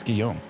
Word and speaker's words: Guillaume: Let's talk about the pronunciation of Guillaume, though. Yeah, I don't know. It's Guillaume. Guillaume, okay. Yeah, it's the French version of William.